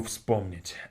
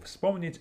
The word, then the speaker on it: вспомнить: Вспомнить has three consonants in the beginning. FSP. Всп, всп, вспомнить, вспомнить. Like that.